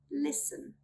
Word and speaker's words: listen: We do not pronounce the letter T when it comes in the combination S-T-E-N or S-T-L-E. Let's look at some examples. Listen, listen. Moisten, moisten.